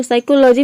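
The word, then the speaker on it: psychology: तो साइकोलॉजी में आप देख रहे हैं कि पी साइलेंट है, केवल हम एस को प्रोनाउंस कर रहे हैं तभी इसका प्रोनाउंसिएशन होता है साइकोलॉजी।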